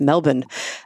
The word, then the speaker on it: Melbourne: Alan Duffy in Melbourne yes that's how you pronounce it I been taught by several people it's Melbourne also gave a talk in Sydney at the